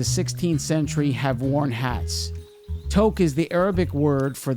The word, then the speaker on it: toque: Toque is the Arabic word for the hat. Think poke or joke, only with a T to pronounce it correctly.